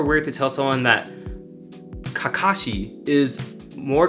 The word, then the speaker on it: Kakashi: the way we speak something like Kakashi is probably the most correct way but you don't see